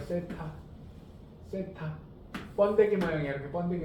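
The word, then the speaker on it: θ: 얘는 세타라고 읽어요. 세타.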